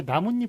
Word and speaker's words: 나뭇잎: 자, 그다음에 나뭇잎 같은 경우에는 나무 플러스 잎이잖아요. 그런데 발음은 어떻게 되나요? 나뭇잎. 나뭇잎 이렇게 니은 니은이 첨가가 되죠.